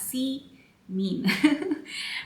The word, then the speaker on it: Simin: That's spelled as Simin, but it's pronounced as C mean.